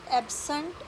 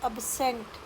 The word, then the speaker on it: absent: और जब वर्ब बन जाता है तो इसकी प्रोनाउंसिएशन हो जाती है अबसेंट। अ पे स्ट्रेस नहीं रहती है, अब्सेंट।